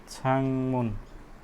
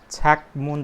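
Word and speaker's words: 창문: यसको उच्चारण चाहिँ के भएन? छाकमुन चाहिँ भएन, छाङमुन चाहिँ भयो।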